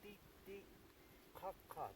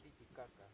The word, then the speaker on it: Titicaca: So about the name, Titicaca, that's the correct pronunciation, not Titicaca.